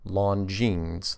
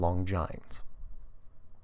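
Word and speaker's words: Longines: L o in G and E S is pronounced lon jeans not long giant there you go this one's called survival book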